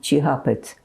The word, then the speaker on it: Tjihapit: Can you spell that? Huh? Chihapit. T-J-I-H-A-P-I-T, Chihapit.